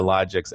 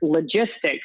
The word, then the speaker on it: Logics: do pronounced at Nara and we also get logistics instead of logics on a regular basis so